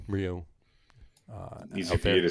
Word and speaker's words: Ryu: And the Jays are probably going to throw Hyunjin Ryu.